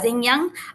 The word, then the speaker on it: Zheng Yang: I'm gonna invite Toastmaster Zheng Yang. Okay, he just reminded me not make sure to pronounce the G, not to miss it. Toastmaster Zheng Yang, level 2.